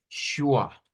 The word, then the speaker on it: schwa: ¿Cómo se lee eso que acabo de escribir? Se lee Shua, Shua, Shua. Así se lee.